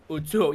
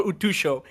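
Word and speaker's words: 空: Utsuo. Yeah. Okay. Utsuo. When she came out. Utso, okay, I never knew how to pronounce it, so I always call her Utusho.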